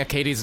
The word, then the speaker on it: Akadi: Took me forever to start pronouncing Akadi's name correctly. said Akedi for the longest time.